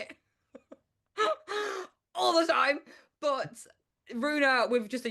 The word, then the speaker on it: Ruena: But Ruena with just a U was taken so many times, so I couldn't. So I was like, well, Rue's a word, like Rue the day, and in France, no problem.